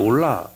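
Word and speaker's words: עוֹלָה: 히브리 말로도 올라예요. 올라 발음이 똑같아요.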